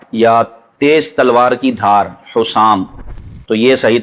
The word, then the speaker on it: حسام: تلفظ پروناؤنسیشن یہ ہے حسام، ہا کے اوپر پیش ہے، سین پر زبر تشدید نہیں ہے، حسام، سین کے بعد الف ہے اور پھر میم ساکن ہے، تو صحیح تلفظ ہے حسام۔ اعلیٰ حضرت امام اہل